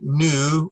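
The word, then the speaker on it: νῦ: Nu, it looks like an V, but that is a nu. It's pronounced like an N, but it looks like a V. So it is a nu, or like a no.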